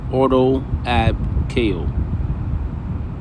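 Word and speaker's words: Ordo ab chao: Pronounced roughly auto ab ko.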